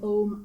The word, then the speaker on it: Ogham: You'll sometimes see it spelled without the H and pronounced Ogham, but I'll stick to Ogham.